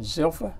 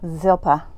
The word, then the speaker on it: Zilpah: in essence bill haw and how did you pronounce her name zilpha zilpah zilpah were slaves to lee and rachel they